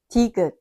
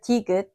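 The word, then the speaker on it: 디귿: This time, many learners hear the second syllable closer to da. So, they ask, is digeut sometimes T and sometimes D? Just like bieup, it isn't exactly English T or D. It's the Korean consonant digeut.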